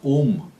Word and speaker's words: Ogham: And his name, Ogma, gives us the Ogham, or the Ogham alphabet, right, of Ireland. Although in Gaelic it's actually pronounced Om, the Om, very much like the Hindi or the Eastern concept of Om.